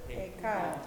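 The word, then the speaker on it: היכל: How do we pronounce it? Hekal, Hekal. That is the word for temple.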